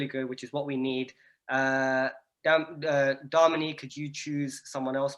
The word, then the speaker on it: Damini: Have I said it right? Be honest, because like... No. But you're close enough. Closer than most. It's Damini. Please correct me. It's Damini. Damini.